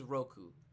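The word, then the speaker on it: 六: to say six I think it's six is Roku Ichi knee each eat knee son she go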